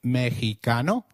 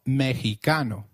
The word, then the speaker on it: Mexicano: While X is usually pronounced as X inflexible, it is pronounced as a throaty H in the words Mexico, Mexicano, and Oaxaca, which is a state in Mexico. So, can you try saying Mexicano? It is called Mexicano.